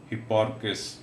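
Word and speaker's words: Hipparchus: He made the discovery of trigonometry, हिप्पार्कस। तो ये बेटे इसकी करेक्ट प्रोनाउंसिएशन है।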